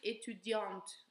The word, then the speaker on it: étudiante: For feminine, we pronounce the T because we add the E. Je suis étudiante.